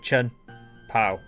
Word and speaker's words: Chien-Pao: I've been told that CH makes a hard K sound, so we'll go Chien-Pao. Yeah, sure, that works.